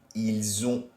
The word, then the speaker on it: ils ont: And again, the la liaison must occur here. So it sounds like a bit of a Z. Ils ont, elles ont.